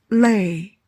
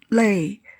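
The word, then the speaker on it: 累: Lei. Tired. Lei.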